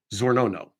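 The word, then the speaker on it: Czornono: CZ o r n o n o Sergey zono that seems to be the pronunciation of the word this should have been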